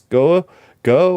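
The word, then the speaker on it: Gough: by uh I think the actress's name is pronounced Denise go go or g-o-uh yeah GH go go um but just absolutely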